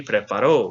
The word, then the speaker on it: preparó: So the correct answer would be preparó with an accent on the O.